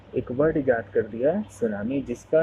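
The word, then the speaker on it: tsunami: इसमें T silent होता है, टी को प्रोनाउंस नहीं करते हैं, इसीलिए बोलते हैं इसको सुनामी।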